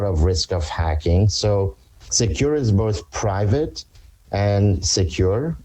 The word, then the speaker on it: Sekur: in today's world tell us why great well secure which is spelled s-e-k-u-r is our email and messaging application